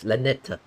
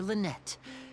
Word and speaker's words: Lynette: you lynnette's new friends let's pronounced Lynette I I could pronouncing lenet oh and you are